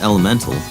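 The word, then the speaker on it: Element4L: PS3, as well as Element 4L, pronounced Elemental, and Don't Die Mr.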